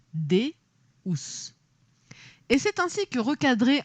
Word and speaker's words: deus: a dérapé jusqu à deous latin prononcé dous et c'est ainsi que